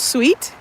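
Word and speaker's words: Suite: the neighborhood over here called sweet it's spelled like s-u-i-t-e but it's all pink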